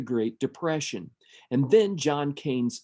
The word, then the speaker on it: Keynes: a man called John Maynard KES and he pronounced his own last name kees so we'll go with that this is the